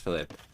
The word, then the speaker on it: Philipp: I remember somebody in my chat in the past, a player named like this, telling me that it was supposed to be pronounced Philip.